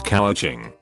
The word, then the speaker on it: couching: part of the process known as couching pronounced like cooch having my professor get